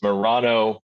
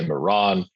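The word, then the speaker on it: Merano: in it's a little the politicized name of the town it's Murano if that's what the Italian government wants you to say the locals say Moran it's a german-speaking part of Italy it's in Southie role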